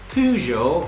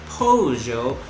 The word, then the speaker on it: Peugeot: and i learned that the proper way to say it is the pujo or the pojo rcz so today we're gonna